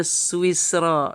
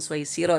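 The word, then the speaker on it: سويسرا: Oh bacanya swisro. Swiss ya bukan suisiro.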